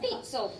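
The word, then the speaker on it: Pitezel: Peetzel. Ben Peetzel, right? And he had this law enforcement guy. You've got to say it in that high voice like I just did. Peetzel. So Ben Peetzel and this Colonel Howe,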